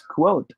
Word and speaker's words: quote: should be pronounced as quote not code code right this one should be pronounced with a w it should be quote quote if we are to